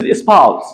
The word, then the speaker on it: espouse: Second is not espouse, it's espouse.